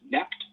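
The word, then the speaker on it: Knecht: But the interesting thing is father Jacobus like rebukes Joseph Kat or the German pronunciation neck which that word actually means servant.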